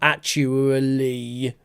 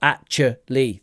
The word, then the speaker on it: actually: Not actually, but actually. 3 syllables.